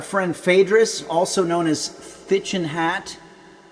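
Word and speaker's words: Thích Nhất Hạnh: I think it was Phaedrus, our friend Phaedrus, also known as Thichin Hat, also known as Tiknot, which I think is the way that you're supposed to pronounce it.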